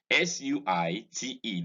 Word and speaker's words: suite: SUITE, this word is pronounced exactly the same way as SWEET.